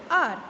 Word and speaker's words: hour: a vowel sound word, R. Here in this word H is silent. H is consonant, but in this word H is silent. So we pronounce it as an R.